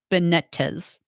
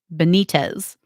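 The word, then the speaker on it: Benítez: president mario abdo bennett benetes benitez benitez i think is how you say it teachers were the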